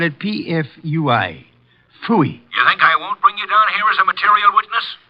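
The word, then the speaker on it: Pfui: Phooey. What's that? Phooey. It can be spelled in several ways. I spell it P-F-U-I. Phooey.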